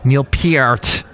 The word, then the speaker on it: Neil Peart: Two amazing musicians, of course, and Neil Peart, as I have been told I have to pronounce his last name now.